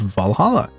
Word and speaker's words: VA-11 Hall-A: know what I mean the name sounds silly and a bit hard to pronounce good thing it's actually called Valhalla funny numbers and letters